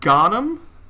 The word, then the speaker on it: Ghannam: I believe it's pronounced Noura Ghannam. G-H-A-N-N-A-M? Yeah. Ghannam? I hope I'm pronouncing that right.